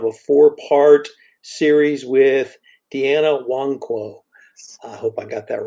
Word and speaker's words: Nwankwo: And yes, you did pronounce the last name correctly, Nwankwo.